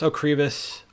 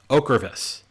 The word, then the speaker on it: Ocrevus: um i've learned that you could pronounce okriva's okravis and i i didn't know